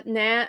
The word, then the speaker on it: naan: Uh naan naan is delicious or nan is delicious.